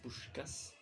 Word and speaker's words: Puskás: Parce que c'est comme ça que ça se prononce, c'est Puskás.